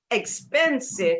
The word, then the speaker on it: expensive: Expensive is 3 syllable. Expensive. It's so expensive. Expensive. So second syllable.